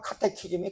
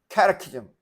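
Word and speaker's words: catechism: 한국식 발음으로 말하자면 카테키즘이 카테키즘. 캐테키즘.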